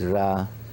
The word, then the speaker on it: Ra: a sun religion and the Egyptian called Rah some say re but it's Rah I mean the same